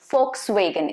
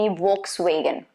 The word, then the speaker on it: Volkswagen: Another one that I have for you is Volkswagen. It's not supposed to be Volkswagen. Okay, Volkswagen. V is supposed to be pronounced as F. Be careful about that.